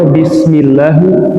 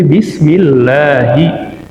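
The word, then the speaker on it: بسم الله: Jadi enggak mungkin kita baca bismillahu, enggak bisa, tapi bismillahi.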